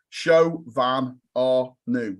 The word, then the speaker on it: Chauvin Arnoux: I tend to, if you speak to Julian, my boss, he says, Chauvin Arnoux.